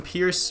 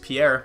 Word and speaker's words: Pierre: still here to Olsen pierce or not pierced Pierre my bad and Hasan would ray